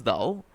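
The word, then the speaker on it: دال: To pronounce dal, you need to use your tip of the tongue and take slightly backward, not fully middle but just in front and say dal dal.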